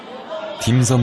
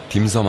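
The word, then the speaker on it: 點心: 섬 식당입니다. 우리말로는 점심이라 쓰고 광동으로는 섬이라 발음하는이 음식의 뜻은 광식간식이라는군요.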